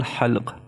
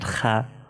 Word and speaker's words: ح: So how to pronounce these? Ha, ha, ha, not kha, ha. If it was light, then you should pronounce it kha, but it is bold.